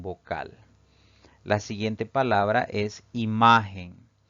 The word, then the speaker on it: imagen: la siguiente palabra es imagen imagen tiene tres sílabas la mayor fuerza de voz al pronunciar esta palabra recae en la penúltima sílaba es una palabra grave